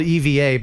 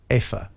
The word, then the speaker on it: Eva: It's spelled EVA, but Americanized it's Eva, but it's Afa.